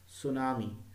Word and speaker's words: tsunami: Okay, T, tsunami, where T is silent here.